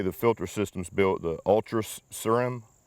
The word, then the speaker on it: Ultra Ceram: or the way the filter system's built, the Ultra Ceram, Ultra C-E-R-A-M, Ultra Ceram.